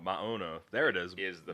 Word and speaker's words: Maono: owner literally said he doesn't care how people pronounce it. Anyway. Mono, is it? Amano I think it's or Moano. Maono. Maono.